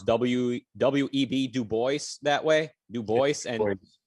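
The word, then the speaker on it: Du Bois: w-w-e-b dubois that way new voice i think he specifically pronounced it dubois the way you know phonetically but it looks french so people go no no it's dubois and then anyway i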